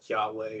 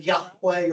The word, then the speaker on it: Yahweh: Jehovah was not at all the pronunciation. Yahweh or It would have been Yahweh or something like that.